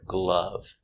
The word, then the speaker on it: glove: and with the word glove one glove two gloves the sound uh glove gloves I wear gloves in